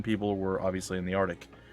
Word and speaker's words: Arctic: were obviously in the Arctic, or the Arctic, if you want to say it properly.